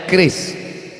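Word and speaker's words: QRIS: Cara bacanya keris.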